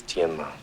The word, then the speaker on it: Tianma: The correct pronunciation is Tianma. See how it ended up Tin Man.